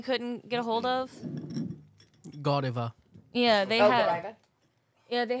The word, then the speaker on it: Godiva: and he couldn't find it never heard it pronounced Godiva Godiva never it's Godiva yeah okay go diva see another funny moment